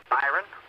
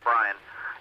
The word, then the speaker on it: Byron: This is Atlanta 2-1, but the first name is spelled as you read it, Byron or Kevin, doesn't matter, but it's not Brian.